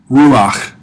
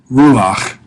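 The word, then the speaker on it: רוּחַ: Ruach. Ruach. Spirit. Wind. Breath. Notice the furtive patak there beneath the chet means it's pronounced before the chet.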